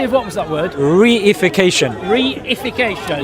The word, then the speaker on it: reification: Reification. Reification. Yeah, it's one word, but I've just broken it down. 4 syllables.